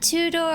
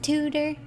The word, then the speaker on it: Tudor: that stuff but I like two-door Aesthetics I think it's cool tutor it's it's pronounced tutor okay but yeah I